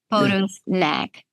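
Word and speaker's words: Potocsnak: director of the the pot snack longevity I don't know if I'm pronouncing that right the sea is silent okay phto snack longevity instit can you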